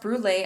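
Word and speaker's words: Brûlé: located in the hamlet of rural Alberta originally pronounced brulee as the name still suggests on Google Maps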